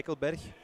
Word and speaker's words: Eichelberg: This is Eichelberg, or Berg, as you said. Is that right? Yeah, Eichelberg. So you said it right.